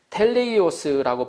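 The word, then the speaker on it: τέλειος: 헬라어에 다 이루었다는 것, 헬라어로는 다 이루었다는 것을 텔레이오스라고 발음을 하는데 그 뜻은 예언이나 약속을 성취하다, 책임을 완수하다, 목적을 달성하다, 작정된 목표에 도달하다, 완전한, 완료한, 완성한다는 뜻이 있습니다.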